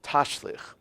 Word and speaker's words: tashlich: Side, is a tradition few can even properly pronounce. It's called tashlich.